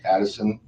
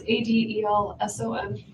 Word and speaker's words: Adelson: I, Wendi, Addison, and I got to change this. Adelson. I know I got to change that. It's okay. It's Adelson. Actually, it's spelled right. I said it wrong.